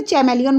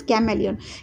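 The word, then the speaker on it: chameleon: अ कैमेलियन, इसे हिंदी में बोलते हैं गिरगिट, और आप लोग कुछ लोग इसे चैमेलियन बोलते हैं, it's correct pronunciation is कैमेलियन।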